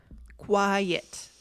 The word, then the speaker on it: quiet: Quiet. Quiet. Right. Two syllables.